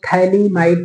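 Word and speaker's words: phthalimide: अभिक्रिया थैली might reaction T एच ए एल आई एम आई डीई थलीमा it reaction ठीक है थैली माड रिएक्शन इसमें टी हमने स्मल लिखा है क्योंकि प साइलेंट रहता है थैली माइड रिएक्शन या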